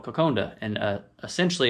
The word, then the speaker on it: kokoda: a dish called coconda i believe it's spelt kokoda but it's pronounced coconda if i remember correctly